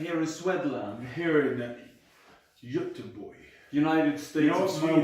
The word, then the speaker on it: Göteborg: You know, of my Sweden. wife says that I say that wrong. Can you say it for me? Say it again. So Göteborg. Göteborg. Göteborg. I mean, your accent puts a lot of emphasis on the wrong places, but it works. Well, where's the emphasis go? Göteborg. Göteborg. Göteborg. Göteborg. Your is wrong. That's where the issue lies.